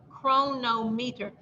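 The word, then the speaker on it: Cronometer: go online and look for the chronometer pronometer it's spelled c-r-o-n-o-m-e-t-e-r chronometer that's real fancy it's free also last time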